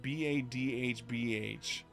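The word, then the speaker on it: Badb: But if you don't know who Badab is, in Irish mythology, Bada, or it's pronounced Badhbh, which roughly translates to crow, is the war goddess.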